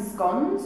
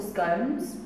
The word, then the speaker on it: scones: And we have some scones or scones, how you say it depends on where you come from. Different people in different parts of Britain will say it differently.